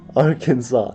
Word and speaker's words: Arkansas: hey Tyler Smith says why is this one pronounced Kansas but this one is pronounced alright Arkansas America explain explain yourself I